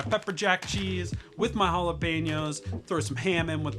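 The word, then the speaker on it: jalapeño: And what I like to do, I like some jalapeno. That's proper pronunciation.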